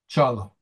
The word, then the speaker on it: Çağla: So the G is not pronounced, it's silent? -Yes it's silent and the first letter is ch. -Çağla -yes -okay thank you for teaching me basic Turkish -thank you for being here.